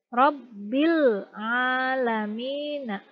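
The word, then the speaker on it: رب العالمين: Nah, tapi ingat jangan dipantulkan. Jangan Rabbil alamina, jangan seperti itu ya, karena ini bukan huruf qalqalah. Jadi Rabbil alamina.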